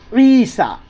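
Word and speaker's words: عيسى: कुरान में लिखा होगा ईसा क्या लिखा है ईसा क्या लिखा हुआ है बच्चों ई सा ईन या जर ई सीन खड़ा जबर सा तो ये या साइलेंट होता यह पढ़ा नहीं जाएगा तो क्या है पढ़ने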